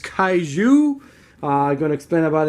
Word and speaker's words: Kaiju: cat racing it's a very weird name is pronounced Caillou I'm going to explain about it a little